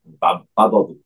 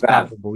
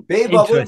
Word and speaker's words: BabBubble: Bab bubble. Yeah, but, yeah. So when we pronounce it, it's bab, not babe. It's bab. Bubble. Yeah. Bab bubble. In babe bubble.